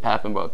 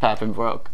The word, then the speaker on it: Papenbrook: She said Papenbrook. I was like, yes, Papenbrook.